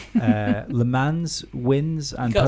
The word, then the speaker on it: Le Mans: Le Mans wins and, You can't say that and either, it's pronounced podiums. Le Mans. It's written Le Mans, and that's how I'm going to say it. Lemon?